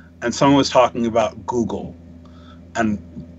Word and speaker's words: Google: someone was talking about Google. And, like, we kept saying goggle. Because, like, at this point, Google had just launched as a search engine. So, like, we didn't know how to pronounce it.